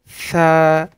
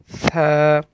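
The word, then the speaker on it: ث: তারপরের হরফটি সা, সা, সা। এটা পাতলা করে উচ্চারণ করতে হবে, সা।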